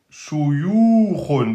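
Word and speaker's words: شيوخ: Shuyukhun. Donc, aminci. Donc, on dit bien O-U, Shu, Yu, Khun.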